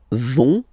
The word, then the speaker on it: vont: So ils vont, final T not pronounced.